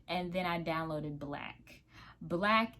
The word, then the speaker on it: BLK: Black is spelled BLK, and it's a little ghetto, but it be some cuties on there.